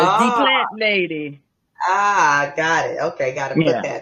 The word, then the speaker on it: Dí Plant Lady: So that D is patois. So it's D Plant Lady.